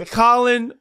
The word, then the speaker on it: Khalen: You should put it as C-O-L-I-N. Damn it! It is Khalen Saunders, y'all. There we go. Damn. So first, what are some of the common Khalen?